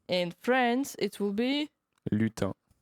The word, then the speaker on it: lutin: France it will be Lutin. lutin. Yes. As I said, many letters. Not all of them are pronounced lutin.